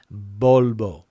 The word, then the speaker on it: Volvo: they will know that there's virtually no difference between the way the the sound is pronounced in Spanish and the B sound and the example that we have there bolbo and the car manufacturer